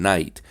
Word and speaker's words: knight: The difference between the R in ornery and the K and GH in knight is that the process of dropping out the sounds in knight has been completed. Nobody pronounces them anymore.